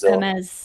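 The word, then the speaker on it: Hermès: I haven't really seen much about crocodile farming and skinning them for, you know, like uh, how do you pronounce them? Hermes Hermes Hermes.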